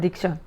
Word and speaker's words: দীক্ষা: diksha, কয়টা শব্দ রয়েছে there are how many syllables in the word diksha? দি ও two syllabus Di and sha, 2 syllables.